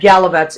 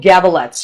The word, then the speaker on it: Gavalets: I said it wrong on the promo. I said Galavets. It is wrong, and I apologize, profusely. And she was so nice about it. So it's Gavalets.